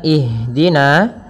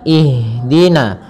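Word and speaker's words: اهدنا: mengalirnya nafas kita maka jangan sampai huruf Ha ini memantul misalkan ihdin akan tetapi alirkan nafasnya ihdina ihd ihdina ya dengan aliran jangan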